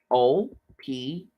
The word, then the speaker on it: Oprah: Oprah. And the H is silent.